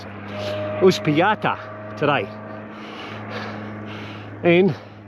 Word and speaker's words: Uspallata: So we're heading off to well, I've got to pronounce it, Uspallata today, and it's a 70k ride. But they say it's all downhill. Yeah, bullshit. All right, I'll keep pedaling. Welcome to Uspallata, but in English we would say Uspallata.